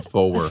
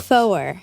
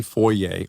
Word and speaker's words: Foer: You have the easiest time saying Foer. Foer. I want to say Foyer or Foyer. I think I was mispronouncing it for a long time. I was calling him Foer, but that's wrong.